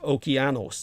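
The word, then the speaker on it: Okeanos: uh epeus uh menus oceanis uh correctly pronounced okos in the Greek and Prometheus they're all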